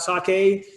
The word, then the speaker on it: sake: even hanging out with Japanese people you say sake you're gonna look like you're a professional right